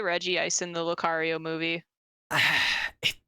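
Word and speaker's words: Regice: that the anime doesn't necessarily have the correct pronunciation either yeah that's true I'm looking at you reg ice you mean Reggie ice shut the up I mean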